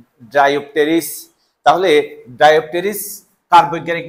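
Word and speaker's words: Dryopteris: এর উচ্চারণ নাই কিন্তু এখানে পি এর উচ্চারণ আছে ড্রাইপ টেরিস তাহলে ড্রাইপ টেরিস কার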